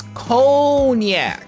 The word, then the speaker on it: cognac: a g there it's conac it should be c o n i a c where why if the g is silent why is it there because it would just